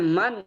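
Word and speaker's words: من: Bacanya man fi, man fil ghurfah gitu, nggak boleh min fil ghurfah.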